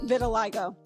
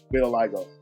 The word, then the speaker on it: vitiligo: um phil talgo um and that's how you pronounce it vitiligo vitiligo right um and um how people are um